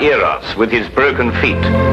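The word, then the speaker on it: Eros: influence of cockney stagehands she added an h where there shouldn't have been one what then spell it as she spelled it but without the h e r o s precisely and here he is cupid the greek god eras with his broken feet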